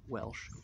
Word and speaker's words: Welch: It is spelled CH in the name of the regiment, Welch, not Welsh. I suppose he's supposed to pronounce it Welsh, even though he wasn't Welsh at all.